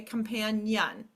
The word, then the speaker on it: companion: on this rule because they hear Yun at the end okay companion all right so I